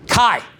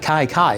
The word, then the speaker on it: Kai: Kai. That's an easy one. I don't know why I remember that. I can get Kai. Kai. One syllable, okay?